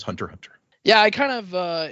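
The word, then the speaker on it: Hunter × Hunter: X Hunter is a silent symbol, a stylistic choice by the creator, Yoshihiro to Toashi, and is meant to be pronounced as Hunter Hunter.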